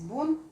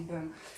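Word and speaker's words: бён: Мы все привыкли говорить бон, и отучиваться нам, наверное, может быть, и не надо. Но на самом деле, вот Дмитрий расскажет, что правильное произношение бен.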